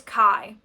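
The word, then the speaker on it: Ky: knows, and that somebody else, his name is Kai, and it's spelled K-Y, because this is a science fiction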